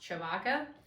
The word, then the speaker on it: Tshibaka: last name and so my last name is pronounced Chewbacca but it has all those consonants in it because it's a Congolese name and so after a